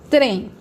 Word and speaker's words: trem: Trem, trem, é monossílaba.